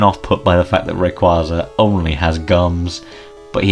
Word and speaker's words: Rayquaza: I know it's pronounced Rayquaza, by the way, but if you come for me, I will find you and I'll strangle you to death.